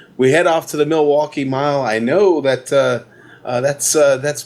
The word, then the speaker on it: Milwaukee: How's that pronounced? Milwaukee.